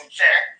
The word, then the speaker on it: Niger: You also have Niger Republic, which is French pronounced Niger, who knows Niger.